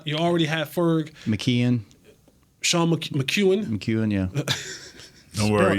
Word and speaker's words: McKeon: Sean McEwen, yeah. Don't worry. It's spelled McKeon.